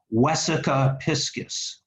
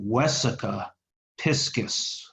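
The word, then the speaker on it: vesica piscis: probably more as a Wesa piscis Wesa with a V but pronounced like a w Wesa piscis heart see and that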